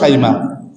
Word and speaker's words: সাইমা: দুধ বোন ছিল সাইমা, যারা সীমা বলে বইতে বলেও ঠিক না, সঠিক উচ্চারণ হলো সাইমা।